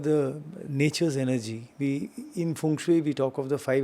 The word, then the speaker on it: feng shui: Funue, right? Funue is how it's pronounced.